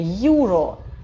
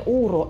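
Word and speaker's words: uro: И последнее – юро. И, пожалуйста, это не уро, это юро, буква ю читается как в открытом слоге.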